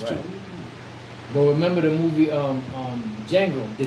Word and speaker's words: Django: But remember the movie Django, the Django, Yeah. the D is silent.